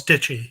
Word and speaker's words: Deitche: I hope I pronounced your last name. Doing well. It's Deitche.